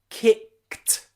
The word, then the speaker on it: kicked: That ed here is a t sound, t sound. Why? The reason is because the k, k, k sound at the end of the word kick, can you hear that? Kick, k, k, k. The final sound is k, k, is a voiceless sound.